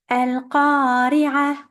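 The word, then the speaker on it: القارعة: The last letter of the verse is a tamarbuta. When you stop on a tamarbuta, it has to be changed into a ha or a h in English if you prefer, and it has to be a very soft ha.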